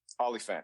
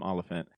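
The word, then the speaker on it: Olyphant: is it olant am I saying it right olant yeah olant thank you so much there's another um Deadwood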